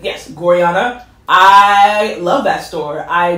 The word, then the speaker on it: Gorjana: I was gonna say Gorjana, but I believe the J is pronounced like the J is the Spanish J, so yeah, versus ja. And yes, Gorjana.